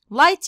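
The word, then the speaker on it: light: حاجه بتنقط يبين يبين لايت يعني ضوء اسمه ايه لايت لايت ضوء يعني لايت والجي اتش هنا يا اد ايه سايلنت لا تنطق بعد كده زي ما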